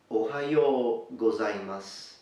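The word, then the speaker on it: おはようございます: In the morning you normally say, Ohayo gozaimasu. Ohayo gozaimasu. Ohayo gozaimasu. So to break it for the pronunciation is O-ha-yo. Ohayo. Please note the H is pronounced.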